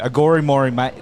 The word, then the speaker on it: Aghori Mhori Mei: But, this new album, though, Aghori Mhori Mei, is that how you pronounce it?